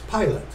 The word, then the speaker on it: Pilate: Hall again this one in the pronunciation key has it uh it's pilot then pilate entered into